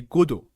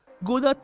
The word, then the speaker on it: Godot: میریم سراغ موتور بازیسازی گودو گدات نوشته میشه ولی اسمش از یه نمایشنامه اومده و تلفظ درستش گدو هستش این موتور بازیسازی برای